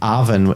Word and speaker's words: Arven: that's correct. Arven, A-V-E-N. Okay.